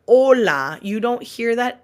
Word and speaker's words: hola: If this letter is starting a word, it is almost always silent, like the word hola.